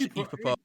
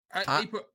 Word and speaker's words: Ippo: decided let's all watch Epipo. You know, I come on, Mary, don't be like that. You know, You've been there. How do you spell it? I've never heard of it. Epipo? Epo. IPPO. Epo.